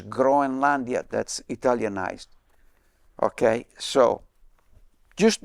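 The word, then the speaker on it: Grønland: then by the way the right way to say Greenland in Danish is groia that's italianized okay so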